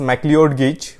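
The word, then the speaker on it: McLeod: इसका प्रोनाउंस अलग अलग फैकल्टी अलग अलग करते हैं. आई pronounce it एज मैक्लियोड गेज.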